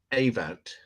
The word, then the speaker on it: Ewout: hey you but um it is pronounced a vote no no I would